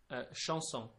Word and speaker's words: chanson: Okay, so in French is chanson.